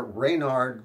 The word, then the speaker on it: Reynard: There is one little piece of evidence, of objective evidence, and that is that in this volume, where Reynard the Fox shows up, it's spelled here R-E-Y-N-A-R-D, R-E-Y-N-A-R-D, Reynard, which is probably a phonetic spelling.